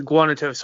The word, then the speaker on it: Guanacos: how to pronounce it how do you pronounce it it's the guanacos hardcore crew Guana toast tell me